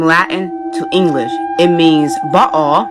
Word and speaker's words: Baal: Meaning number one, when you break up the word from Latin to English, it means Baal, that's how you actually pronounce it from Hebrew, or Baal is how, or Baal is how we Americans pronounce it, is the king.